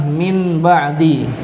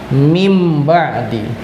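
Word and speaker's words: مِنْ بَعْدِ: Ya, tulisannya adalah min ba'di, tapi dibacanya berubah menjadi mim ba'di.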